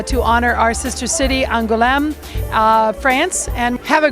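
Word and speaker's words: Angoulême: our sister city which is by the way pronounced angulam it looks more unusual than it is this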